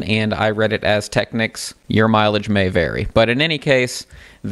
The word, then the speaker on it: Technics: Some people say Techniques. I'll leave that up to you to decide.